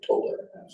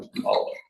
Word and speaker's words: Tolland: Some people say Toland, but I'm Tolland.